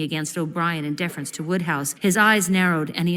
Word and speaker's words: Wodehouse: No, Wood pronounced Wodehouse.